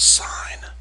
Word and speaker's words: sin: Now, notice the abbreviation for sine looks like sin. It's pronounced sine.